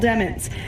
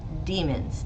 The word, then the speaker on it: Demons: Dude's last name is spelled Demons, D-E-M-O-N-S. So there was a motion to require everyone to pronounce it as Demons because demons is prejudicial.